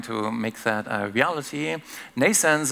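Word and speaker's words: Nnaisense: Nascens is pronounced like birth, Nascens, but it's spelled in a different way, NN for neural networks, AI for artificial intelligence.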